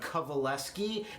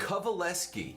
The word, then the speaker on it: Kovaleski: It's actually Kovaleski, and that's spelled the opposite of how it's said or even looked at or heard. Kovaleski.